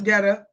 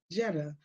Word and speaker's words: Jetta: I thought it was Getta. Got it. Now I have been corrected. Um, so this is a really, really it's pronounced as Jetta, like a car, Jetta.